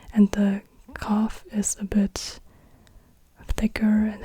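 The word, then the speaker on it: قاف: F then we have the cough and the cough is like a a q like it's it's a k sound but a deeper k sound deeper in the throat again I also can't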